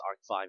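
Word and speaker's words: Arc-V: want to call it it's pronounced Arc 5 in Japanese so yeah but anyway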